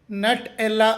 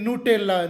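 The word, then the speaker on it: Nutella: company ತಯಾರಿಸು ಸುತ್ತದೆ ಜಾಗತಿಕವಾಗಿ ಇದರ ಅಧಿಕೃತ ಉಚ್ಚಾರಣೆ ನಟ್ ಎಲ್ಲ ಅಲ್ಲ ಬದಲಿಗೆ ನೂಟೆಲ್ಲ ನೂಟೆಲ್ಲ ನಿಮಗೆ ನನ್ನ ರಿಸರ್ಚ್ ಮತ್ತು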